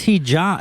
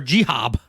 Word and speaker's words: hijab: It's hijab. It's H-I-J. Don't be fucking insensitive. What the fuck did I say? Hijab or jihab. Well, that's how it's spelled. J-I-H-A-B. No, it ain't. It's H-I-J-A-B.